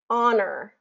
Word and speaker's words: honor: is a list of the most frequently used words that don't have the H pronunciation so this would be like honest Allelujah Heir honor um herbal hour spaghetti okay so there's no h pronunciation there and then it gets